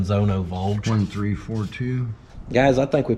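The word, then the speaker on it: Zündfolge: That's the Zonenvolge. The Zonovolge. That's how you say it in proper German, Zonovolge.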